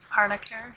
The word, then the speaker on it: Arnica: Arnicare?